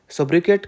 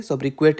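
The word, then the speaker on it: sobriquet: सोब्रिक्वेट का मतलब होता है, सोब्रिके भी बोलते हैं, सोब्रिक्वेट भी बोलते हैं। ठीक है, बट करेक्ट प्रोनाउंसिएशन इज सोब्रिके।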